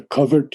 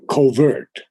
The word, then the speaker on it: covert: He grew one with a covert universe. Now, I always used to say covert, because that was the American pronunciation. But Temi said, no, it's covert. That's the correct English pronunciation.